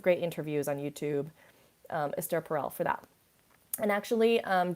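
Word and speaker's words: Esther Perel: how all of that can exist check out astaire perel esther like it's spelled like esther but she's it's pronounced astaire perel p-e-r-e-l she has um incredible resources she she's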